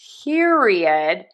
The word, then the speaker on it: period: We're going to start with ear vowel. Like I'm looking at you. Pier. I'm going to go from that ear right into my re. So it sometimes sounds like there's two Rs there.